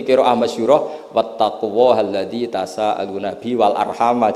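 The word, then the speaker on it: وَالْأَرْحَامَ: Tapi jumhur tentu lebih keren karena jumhur ngikuti qiraah masyhurah wattaqullahalladzi tasaaluna bihi wal arhama. Jadi jumhur memang bacanya wal arhama diatafkan ke Allah, bukan diatafkan ke bihi.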